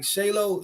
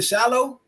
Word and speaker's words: Shilo: it all but like shayo shalow shayo whatever how you say his namey hey what is it Shiloh yeah sh like Shiloh Baptist Church he the glue to